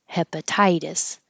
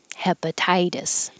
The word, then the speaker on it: hepatitis: take the shortcut settlers hepatitis hepatitis anything that ends with itis is going to be two syllables stress on the first syllable itis the T changing to a d pilgrims pilgrims and here's